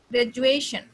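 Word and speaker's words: graduation: ग्रेजुएशन, ग्रेजुएशन, तो ये जो है ग्रेजुएशन जो है सेकंड सिलेबल पे आपका स्ट्रेच जाएगा.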